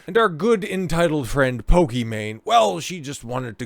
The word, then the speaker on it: Pokimane: life for sure is pokey man she's she's a streamer I know I didn't mispronounce Pokemon but no it's it's Pokey man I guess her name